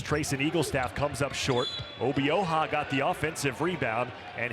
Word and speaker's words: Obioha: Obioha. I have learned the proper pronunciation.